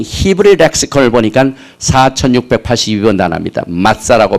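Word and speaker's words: מַצָּה: 마짜라고 발음하는데 unleavened bread 혹은 cake 혹은 without leaven, 누룩이 없는 빵이다, 누룩이 없는 떡이다, 이렇게 무교병을 말하고 있습니다.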